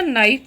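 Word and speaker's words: knife: अंग्रेजी के मूक वर्ण हाफ में एल तथा नाइफ में के ये मूक वर्ण है। इनका उच्चारण नहीं होता है।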